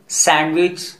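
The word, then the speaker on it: sandwich: इस कंडीशन में यदि फर्स्ट वर्ड का लास्ट लेटर डी रहता है तो प्रोनंसिएशन करते समय डी को साइलेंट कर दिया जाता है ताकि इंग्लिश फ्लुएंटली बोली जा सके.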